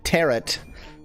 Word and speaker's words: Tarot: Tarot. Rhymes with carrot.